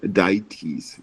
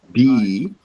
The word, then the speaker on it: deities: worship Y and know you said dietes like diet that we eat that's your diet but this is DS DS yep okay and then